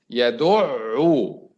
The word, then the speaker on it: يدعو: Yadu'u. Yadu'. The first one is ayn sakina. Yadu'. And the second one, the second ayn, u. So yadu'u. Two ayns. Because this is tajdeed bil-dhamm.